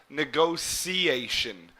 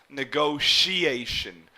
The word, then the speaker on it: negotiation: I pronounce it negotiation, where this T here would almost be pronounced like an S or a C, negotiation. But you may also hear people pronounce it as negotiation, like an SH sound here.